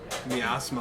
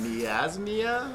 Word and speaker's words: miasma: We got like a miasma around us. Well, we got good butchered news.